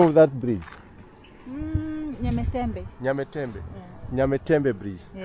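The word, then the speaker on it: Nyamtembe: Nyametembe bridge. Yeah. How do you pronounce Nyametembe?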